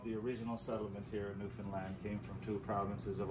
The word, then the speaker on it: Newfoundland: fellaini blue star is a beer and is pronounced newfoundland not newfoundland or new finland newfoundland is the oldest settlement in north america